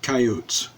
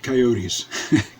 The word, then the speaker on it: coyotes: In this and most other cowboy western songs, uh, coyotes is pronounced coyotes, not coyotes.